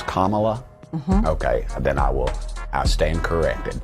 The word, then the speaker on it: Kamala: And then we have how Kamala is, everyone's saying it's Kamala.